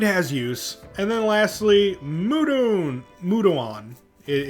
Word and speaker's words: Mudoon: it but it has use and then lastly mudon mudoon it it's pronounced mudoon deals medium magic damage and that is actually